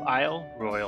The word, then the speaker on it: Isle Royale: zooming in on it Isle Royal National Park or is it Royale potato potato according to the park rangers but I'll pronounce it how they pronounce it welcome to Isle Royale foreign most